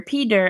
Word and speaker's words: Peter: As an American, I would normally pronounce this Peter, as if this T were a D.